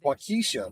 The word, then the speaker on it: Waukesha: Also, a very vocal committee from Wisconsin would like to inform you that Waukesha is pronounced Waukesha. And it's Waukesha.